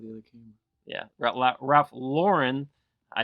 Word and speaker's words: Lauren: Yeah, Ralph Lauren.